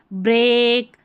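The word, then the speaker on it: break: Spellings है ना, जैसे ब्रेक, ये, स्टेक, यहाँ पर इन तीनों स्पेलिंग्स में ई ए का उच्चारण ए हो रहा है, ठीक है, याद रखें।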